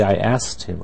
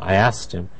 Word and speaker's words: asked: So usually people in speaking really don't pronounce the k at all. They say, I asked him. I asked him.